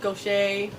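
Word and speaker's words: Gautier: about the main characters Nick go Shay his name's not spell go shape that's how you pronounce it it's kind of like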